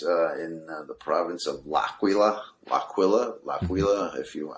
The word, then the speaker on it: L'Aquila: most people pronounce it i pronounce it laquila um being italian i think that's the right way to say it but uh i do